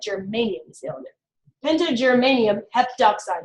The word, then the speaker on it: heptoxide: Pentagermanium heptoxide, right? We dropped the A. It's not heptaoxide, it's just heptoxide.